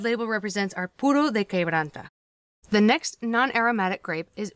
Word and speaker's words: Quebranta: school production in peru is quebranta that is pronounced que branta it is peru's only